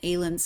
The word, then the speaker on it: Aylun: And Aylun is how I'm pronouncing it, but how do you?